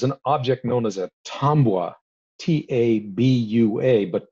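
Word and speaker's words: tabua: object known as a tambour t-a-b-u-a but pronounced with an as if it had an m in it um and tom was the word tomwa comes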